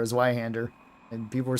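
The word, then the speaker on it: Zweihänder: calling the Zweihander a Zweihander, and people were saying I was mispronouncing. And then there was people that spoke German, and it's like, no, it's Zwei. Zwei means 2. And Hander is 2-handed.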